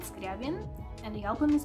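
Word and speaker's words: Скрябін: And the last album, I would say how we pronounce it in Ukrainian. The band is called Skryabin, and the album is called Cascade, which translates as Fairy Tales.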